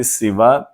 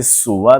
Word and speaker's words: سوا: بھی بات کی تھی کہ سوا کے 3 تلفظ ملتے ہیں. سوا سب سے غالب تلفظ ہے سین کی کسرہ سے، لیکن اس کو سین کی ضمہ سے سوا بھی بولا جاتا ہے، اور اس کو سین